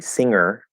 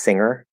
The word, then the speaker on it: singer: So let's see, singer. I pronounce it more of an E because that's just how I speak. If it comes out as an I, singer, I probably say it that way sometimes and I don't notice